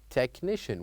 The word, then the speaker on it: technician: Here we say technician without saying or pronouncing the letter H.